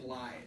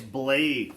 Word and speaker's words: Blaidd: called him Blythe. I think it's Blade. It's BLAIDE. See, Blaidde. See, 2 D's in the Scottish use makes a V sound.